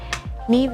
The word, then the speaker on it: Niamh: She's Irish, so her name is spelled as Niamh, but she's Niamh. Neve is an educator on space.